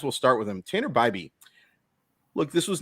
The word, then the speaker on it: Bibee: And by the way, we have confirmed it is Bybee. It is not Bibby, despite the fact that it is spelled like Bibby.